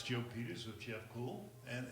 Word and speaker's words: Kuhl: Joe Peters with Jeff cool and it's Kay uhm yes sir and it's pronounced like the word cool correct okay Sherman Sherman